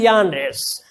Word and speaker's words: genre: Genres, it's pronounced genre.